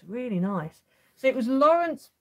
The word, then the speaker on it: Laurence: So it was Laurence Pasquier. It's spelled L-A-U-R-E-N-C-E, and then the surname is P-A-S-Q-U-I-E-R.